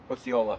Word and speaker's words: Osceola: No, I I went down I35 to uh uh 0 How do I pronounce it? What's on 35 and and 34? Oola. Oola.